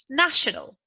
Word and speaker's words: national: is the second syllable national national is an adjective the stressed syllable is the first syllable national nationality in